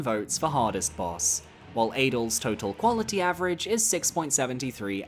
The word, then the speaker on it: Adel: At number 5, we have Adel, Baron of Night. No, I will not be pronouncing it as Adele.